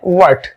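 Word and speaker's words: what: जैसे आज हमारा वर्ड है व्हाट, इसको कई लोग कहते हैं वट, ये वट नहीं होता, इसका जो राइट प्रोनाउंसिएशन है वो होता है व्हाट।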